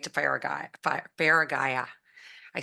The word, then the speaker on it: Feragaia: and it will take you right to far faraya I said it right right faraya and um you did like yeah it's been